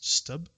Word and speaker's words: stb: going to use is stb which i usually pronounce stub and specifically we're going